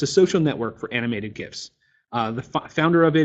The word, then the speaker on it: GIF: on this i believe the gif is pronounced like github gist so i'm actually i